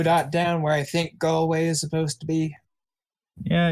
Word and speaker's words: Galway: Galloway hey you actually said it right yes Galway yes it's the name of an actual town